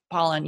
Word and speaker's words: Pollan: I always want to say his name wrong, but Pollan.